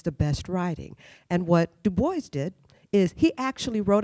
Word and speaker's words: Du Bois: him or Washington but how to actually pronounce his last name you know is it Dubois or is it Dubois right he said it's Du Bois um but the thing